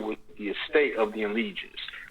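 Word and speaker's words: ens legis: The word is spelled Enlegis. It's ENSLEGIS. Enlegis. And the trust property.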